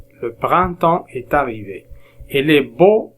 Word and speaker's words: printemps: printemps est arrivé lundi ps on les prononce pas le printemps est arrivé et les